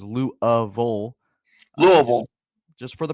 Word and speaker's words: Louisville: Louisville. Just for the pronunciation guide for those Cardinals.